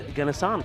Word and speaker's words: Ganasan: He never says anything to you, but can I just tell you, it's Ganasan." So now we know. Ganasan with a G. Ganasan with a G.